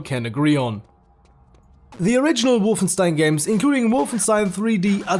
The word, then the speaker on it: Wolfenstein: And sorry, I can't keep pronouncing it Wolfenstein. It's Wolfenstein. It just sounds more authentic when you pronounce it the German way, doesn't it?